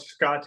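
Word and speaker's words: skaté: um it's currently um titled Scot which um it's spelled like skate ska te with the accent mark at the end it's a Lota word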